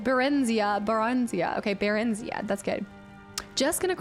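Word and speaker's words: Barenziah: Baronzia. Brennenzia. Baronzia. Okay, Barenzia.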